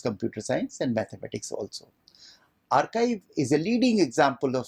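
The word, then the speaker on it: arXiv: archive it is spelled as a rxiv but pronounced as archive that was started in 1991 by Paul jinpark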